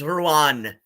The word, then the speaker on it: Ruan: like that Ethel has badly butchered how to pronounce my name it's Ruan but anyway um uh